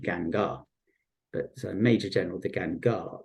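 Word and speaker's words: Guingand: It's spelt Gingand, but I believe you pronounce it Gangar.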